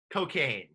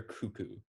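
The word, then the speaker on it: Koekkoek: don't know how to say this name slater cocaine that's close the correct pronunciation is slater cuckoo but you were kind of close okay the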